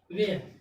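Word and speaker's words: where: वेयर, W के बाद क्या आ गया, H आ गया, H क्या हो गया, साइलेंट, H क्या हो गया, साइलेंट, यानी कि किसका हम लोग उच्चारण, WERE, वेयर, वेयर मीन्स कहाँ, कैसे या किधर।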